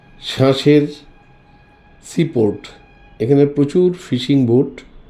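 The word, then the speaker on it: Cherchell: যায় মস্ক এই যে শ্বাসের সিপোর্ট এখানে প্রচুর ফিশিং বোর্ড লিখছি কিন্তু চারচেল আর উচ্চারণ করছি শ্বাসে একটু উঁচু থেকে আমরা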